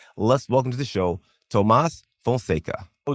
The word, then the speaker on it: Tomás Fonseca: Let's welcome to the show, Tomas Fonka, John. And great pronunciation, by the way.